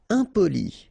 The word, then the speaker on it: impoli: Impoli, okay, remember, I-M and then a consonant after, so nasal, impoli.